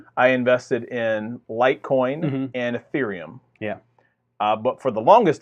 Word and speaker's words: Ethereum: I can't even pronounce it wrong how it was because I've said it right for so long. It's Ethereum.